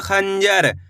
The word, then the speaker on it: खंजर: चलिए देखिए, खाम अनुस्वार की मात्रा खन ज हर, तो मिलकर बन जाए खंजर। कैसे पढ़ेंगे? खंजर। तेजी के साथ आपको इसका उच्चारण निकालना है, खंजर।